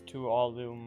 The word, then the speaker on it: Tuolumne: It's Tuolumne.